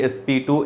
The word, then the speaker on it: sp2: SNP SP to sp3 it's not SP Square you have to you have to pronounce like s p s p 2 sp3 DSP to SP